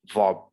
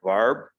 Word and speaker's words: verb: Verb, verb. So again, it's not like verb, it's verb, verb, verb.